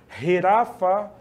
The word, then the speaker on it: jirafa: outro continente bastante longe jirafa né escrevemos com J mas o J no espanhol se pronuncia como rfa é o som gutural no português com G né mono macaco newu é